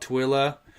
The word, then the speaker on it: Tooele: lives in uh utah we have a town called twilla um if uh later i'll have to show you how it's spelled you should see how people try to pronounce tooele it is yeah it's